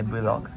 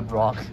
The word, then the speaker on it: vlog: You wanna be my vlog? What's your vlog? Vlog. Vlogging. Vlog? Vlog. Vlog. Oh, vlog. Yeah, blog. What did I say? Vlog. I don't know. It's blog. Blog, yeah. One syllable. Yeah, blog.